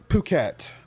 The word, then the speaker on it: Phuket: Because, so we flew into Phuket, and that's where we stayed. Oh, it's not fuck it? It's actually Phuket. That's how they pronounce it. Okay. Yeah, it's actually Phuket.